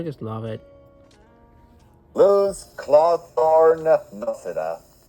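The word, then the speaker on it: Noceda: Luz Clawthorn Nosida. Noseda, that's how you pronounce it.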